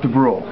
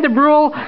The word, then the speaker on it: Dubrule: I've been called worse but it's it's it's pronounced the bru de Bru Massachusetts second district thank you very much for